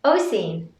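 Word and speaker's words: Oisín: Oisin.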